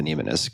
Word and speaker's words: mnemonist: It's called The Mind of a Mnemonist, I think is how it's pronounced, like mnemonic device, Mnemonist.